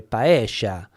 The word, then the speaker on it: paella: the south of America, the double L sound is pronounced differently. So the instead of saying paella, you would say paella, paella.